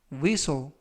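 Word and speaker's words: whistle: 표현이 되겠습니다 이번 표현은 위소 위소 위소 이라고 발음 하시면 되겠구요 이 때 유의하실 점은 알파벳 h 가 이번 단어 에서는 묵음 이라서 발음이 되지 않습니다 그래서 위소 이라고 발음 하시면 되겠고요 품사는 명사 뜻은 호각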